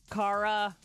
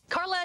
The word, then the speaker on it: Cara: an awkward start when one of the people mispronounced her first name. Carla Delevingne is in the movie. She joins us live from New York City to talk about Paper Towns. Cara, good morning.